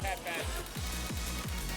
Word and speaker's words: Caffeine: Hey, is it caffeined or caffeine? How do you pronounce your name? Caffeine. Caffeine. Caffeine. Caffeine. Like the coffee I'm drinking.